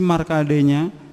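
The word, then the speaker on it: Markandeya: Islam ayah bunda ya, jadi bahasanya kita pakai ejakan Sanskrit asli, jadi bacanya Resi Markadenya dengan beberapa sapi juga kerbau yang berwarna putih.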